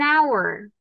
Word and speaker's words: hour: Porque justo, the H at the beginning of hour is silent.